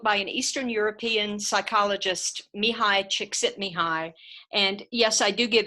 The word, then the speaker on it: Csikszentmihalyi: about a book by an Eastern European psychologist me hi chick Sydney hi and yes I do give extra credit if students learn how to pronounce his last name correctly dr.